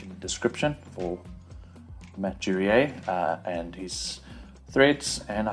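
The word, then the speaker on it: Duriez: Surname is not spelled like you say it. Durier, but D-U-R-I-E-Z.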